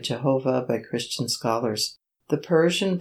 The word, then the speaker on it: Jehovah: indicate the traditional pronunciation the consonants yahweh were provided with the vowels of adonai adonai and the name was therefore read jehovah by christian scholars the